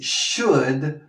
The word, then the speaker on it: should: She should quit smoking. She should. ¿Ves esa pronunciación? Sh, sh, sh, como si mandaras callar a alguien. She should. Y la L, como lo hemos dicho ya, no se pronuncia.